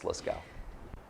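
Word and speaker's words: Lascaux: called the la scale cave that's how you pronounce it let's go i was saying lasso for a long time it's liskow i never know which letters to pronounce and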